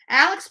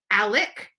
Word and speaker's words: Alec: years gone literally gone Alex burn Alec pronounced Alec was a golden child